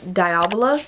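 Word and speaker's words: Diavola: then I would rewrite diola I think is how you say it by Jennifer Thorne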